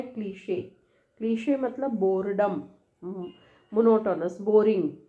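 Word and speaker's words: cliché: इसको कैसे, क्लीशे, क्लीशे है ना, और ये क्या है, इसका साउंड इज नीश, सॉरी इसका साउंड मैं बताती हूँ, क्लीशे, क्लीशे, और ये है नीश, नीश, ऐसा, ठीक है।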